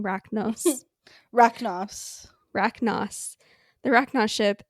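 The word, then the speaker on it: Racnoss: the people who shot Thrachnos, here I go again mispronouncing Rachnos.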